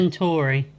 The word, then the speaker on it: Centauri: Alex tells a man who calls himself Centuri. Is it Centuri or Centuri? I can't remember how they say it. Centauri.